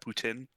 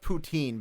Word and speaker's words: poutine: guys don't call your that Putin no no I've never had tea it's actually called poutine I just Googled it